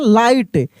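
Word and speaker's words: light: एल आई जी एस टी लाइट। क्या पढ़ रहे हैं? लाइट। यहां पर भी जी एच साइलेंट है।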